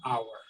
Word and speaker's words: hour: therefore we put an hour right when we talk about one hour one word because there is no sound of h is silent like you were saying